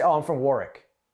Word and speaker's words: Warwick: But if you're from Rhode Island, you can say, oh, I'm from Warwick. You don't pronounce the second W for some reason.